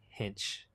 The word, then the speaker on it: Hinch: Hinch, not Hink.